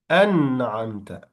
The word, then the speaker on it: أنعمت: صراط الذين, you say أنعمت, an. So the noon here sound, or the noon letter will be clearly pronounced because it's followed by the ayn.